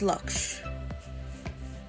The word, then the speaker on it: Laksh: Pronunciation. Laksh. Laksh. Okay. I was wrong. It's Laksh.